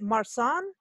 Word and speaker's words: Marsan: Is it Marsan? I don't know how to pronounce this. You know how I am on French. Marsan. Okay, it's Marsan, a white wine from Provence, he says. But, yes, because it's French, yes, Marsan.